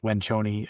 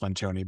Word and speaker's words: Lencioni: Patrick Lenchon, it's spelled Lencion is what it looks like, but it's pronounced Lenchon. But uh Patrick Lanchone, if if I ever get a chance to